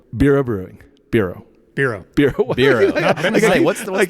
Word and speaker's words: BERO: BERO. What's the pronunciation? Not BERO. BERO. BERO. Yeah.